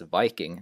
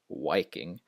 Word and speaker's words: Viking: W sound so it's it's Viking not wiking uh and Vary not